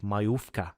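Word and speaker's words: majówka: Mayfa. Okay. So, the J is like Oh, yes. Yes. The W is like a V.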